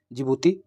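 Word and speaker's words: Djibouti: और डी फॉर जिबूती जिबूती में D silent रहता है इनको कहते हैं हर्न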